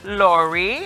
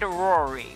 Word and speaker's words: RORI: Not Lori, I said RORI.